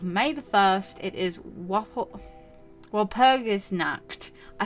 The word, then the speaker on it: Walpurgisnacht: So on the night of May the 1st, it is Walpurgisnacht.